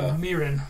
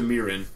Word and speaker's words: Meereen: Meereen. To Meereen. And they're hitting the mile markers. Marine, whatever. I think it's... Meereen. Meereen.